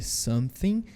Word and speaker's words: something: I got go home Lembrando que a pronúncia desse something desse th que tá em verdinho aí para vocês é com a os dentes e você uma assoprada tip a próxima pronúncia é